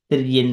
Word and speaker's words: Tiryak: Whenever it is combining here with the next word, N is coming for the pronunciation or something like that. Tiryan Manushya Vividadishu Jivayanishu. So combinedly when we read it, Tiryan Manushya.